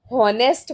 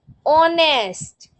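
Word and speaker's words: honest: जैसे अभी इसको बहुत सारे लोग ना हॉनेस्ट पढ़ लेते हैं, तो ये गलत है, इसमें एच साइलेंट है, इसको बोलते हैं ऑनेस्ट।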